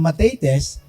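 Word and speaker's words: μαθητής: Matetes means, pinopronounce yan ng matetes, pero ang ibig sabihin yan ay learner or student.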